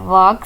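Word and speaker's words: walk: वक स्लोली वक स्लोली इसमें एल साइलेंट है वक स्लोली आहिस्ता चलो आहिस्ता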